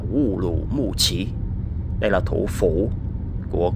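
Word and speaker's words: 乌鲁木齐: Urumqi, tiếng Việt Ô Lỗ Mộc Tề, tiếng Hán đọc là Wu Lu Mu Chi.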